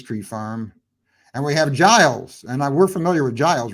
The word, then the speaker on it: Giles: Okay, my favorite Christmas tree stars Emma Johnson, and is it Giles Patton? I believe is the way you pronounce his first name. I don't think it's Giles. I think it's Giles. I think it is Giles.